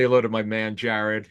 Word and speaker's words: Gerard: Say hello to my man Jared. He spells it Gerard, but he pronounces it Jared.